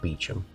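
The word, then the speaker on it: Beauchamp: a little circle around kib with beum not bamp or beum a village clearly designed to frustrate people in its pronunciation in reality though like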